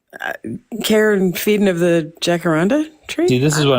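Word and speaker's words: jacaranda: Well, uh I would say that we have to start with the correct pronunciation of the tree. It's jackaranda.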